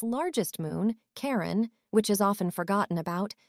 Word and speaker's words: Charon: But as he wanted to dedicate the discovery of the moon to his wife, Charlene, he pronounced it as Charon, rather than Charon.